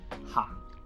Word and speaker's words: 行: because the same character if they're used as different parts of speech it will be pronounced differently in this case we're using it as a verb to walk so we pronounce it as 行 and 街 is noun